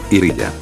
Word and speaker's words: Ilia: Street Fighter New generation su nombre original es Ilia pronunciado en japonés como iriya dejando así necro como